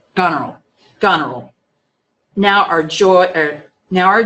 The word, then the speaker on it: Goneril: Goneril? Goneril. Goneril.